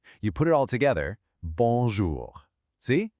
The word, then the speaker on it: bonjour: Bon. Then we have J O U R. It's got our guttural R at the end. Now, is that R silent? No way. Because R is one of our careful letters, so we have to say it.